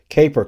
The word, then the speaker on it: Caper: from a company called C Caper cart not Casper Card I'm sorry I mispronounced